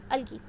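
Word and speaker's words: algae: It's pronunciation is अलगी, ठीक है, अलगी, नॉट अलगाए, नॉट, मैं भी कभी कभी गलती से अलगाए बोल देती हूँ, बट इट्स प्रोनाउंसिएशन इज अलगी।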